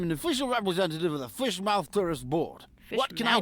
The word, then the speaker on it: Fishmouth: My name's and I'm an official representative of the Fishmouth Tourist Board. What can I do for you today, sir? He pronounced it fish mouth. Everybody else has been saying fishmouth.